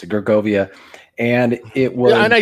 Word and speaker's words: Gergovia: uh at george um i don't know how to pronounce some of these words in the gaelic but uh gergovia i think that's how you pronounce it gergovia and it was and